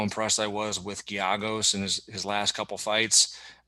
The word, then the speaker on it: Giagos: But I think And actually, I have in my notes that it's Giagos, like with a Y. I forgot I even wrote that down on how to say it. Giagos.